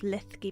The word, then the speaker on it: Linlithgow: You could say Lithgow if it's easier. Lithgow. The Scots pronunciation. So we're sitting in the gift shop of Linlithgow Palace.